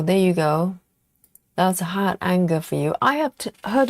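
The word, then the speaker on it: Hardanger: Oh, Steve says it pronounced hard donga. Hard donga. That sounds Yes, it sounds a little bit Norwegian or German.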